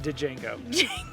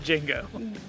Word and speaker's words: Django: It's not pronounced Django. It's pronounced Django.